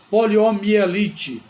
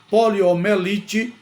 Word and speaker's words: poliomielite: pode cometer esse erro então poliomielite é o nome da palavra é a forma adequada de se pronunciar essa palavra portanto a outra forma poliomelite é inadequada todo mundo sabe que